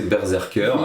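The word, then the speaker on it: BRZRKR: comique qui s'appelle vous il faut prononcer berzerker évidemment qui rapporte en gros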